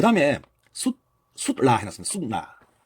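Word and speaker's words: sūtra: 그 다음에 수트라 해놨습니다. 수트라. 이걸 라틴어로는 수트라 합니다. 수트라라고 읽는데 이 산스크리트를 보니까 수트라도 조금 달라요. 수트라입니다. 수트라.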